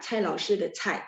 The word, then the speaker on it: 蔡: Oke, 再来是ya 蔡老师的蔡 ya pakai C. Jadi bacanya perlu ada angin ya.